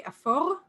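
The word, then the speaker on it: אפור: And then gray is afor, or I would say afor, and afora.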